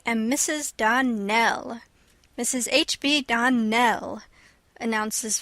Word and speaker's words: Donnell: "Clarice Almira told me that you pronounced our name Donnell. Now, Miss Shirley, the correct pronunciation of our name is Donnell. Accent on the last syllable.